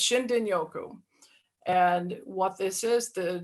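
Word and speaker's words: shinrin-yoku: but it's actually pronounced shindin Yoku so the r is a d pronunciation so it's shindin Yoku and what this is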